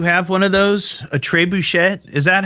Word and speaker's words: trebuchet: Is that how you pronounce it? Trebuchet? Yay or nay? True bucket? I think that's why all the Wiccan people gather there. There is an entry fee. Trebuchet. Trebuchet. Like Bobby Boucher.